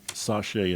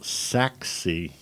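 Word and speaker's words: Sachse: thanks for the correction I'm gonna try it Brazil Sachs see it's almost like sexy Sacco say CHCs sexy and Wilson mr.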